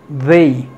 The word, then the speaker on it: they: Si fuese con sonido th sería fey y no es fey, es como en medio. Este símbolo, este sonido es como en medio del sonido th y en medio de la letra d, es they, they.